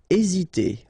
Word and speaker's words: hésiter: Hésiter. Okay, remember that H doesn't exist, so we don't pronounce it, and the first thing you will pronounce is this vowel here, E accent aigu, E. Hésiter.